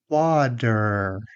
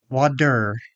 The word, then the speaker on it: water: t t But a flap t is much faster. Your tongue quickly taps the roof of your mouth once. Think of it like a fast bounce. Some common mistakes are using a strong t everywhere or replacing it with a full d, as in water. That sounds unnatural, too.